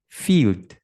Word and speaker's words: field: Kalau misalkan ejaannya itu I dan juga E seperti ini bunyinya bunyinya I panjang. Contoh, field, field.